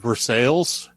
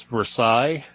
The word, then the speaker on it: Versailles: is you know in in missouri this town is for sales in france it's versailles and i have no idea how you pronounce it in kentucky so so i'm just going to go with versailles because that sounds like the american way to do it the color on this